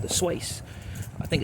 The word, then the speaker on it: Swace: Well, those who might follow Suzuki on Facebook, last night they announced a new model called the Swace. I think it's pronounced Swace or Swace, probably Swace.